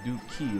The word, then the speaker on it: Duke: I named him because Duke, like in Spanish, but how you pronounce it, like Dookie, like D-U-K-E.